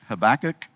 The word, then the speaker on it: Habakkuk: If nothing else, tonight you'll learn how to say the name Habakuk or as we I guess we pronounce it in English, Habach.